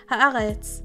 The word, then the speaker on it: Haaretz: Okay, Nightways, I was pronouncing it with my Canadian accent. Haaretz, you happy?